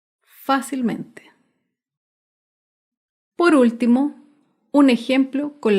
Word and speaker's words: fácilmente: tilde otro ejemplo es la palabra fácilmente fácilmente se acentúa en la sílaba anterior a la antepenúltima sílaba fácilmente por último un ejemplo